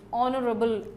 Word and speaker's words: honorable: honest man same way this H is not pronounced an honorable job this